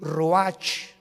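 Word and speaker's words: ruach: y exhaló Isaac el Roach así como suena se pronuncia la Cia en hebreo como jota Roach se les halló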